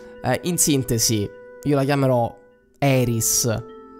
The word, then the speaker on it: Aeris: sintesi io la chiamerò Eris la pronuncia Ae alla latina Eris o AIS Insomma come mi verrà mi verrà probabilmente dirò Iris Io sono Iris la